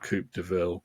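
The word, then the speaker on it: Coupe de Ville: do we pronounce it well Neil pronounces it Coop DeVille so that's how I'm pronouncing it um a late night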